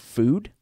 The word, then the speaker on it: FUD: the company is called Food. Okay. But it's spelled F-U-D. Oh, FUD. But it's pronounced Food. It's supposed to be Food.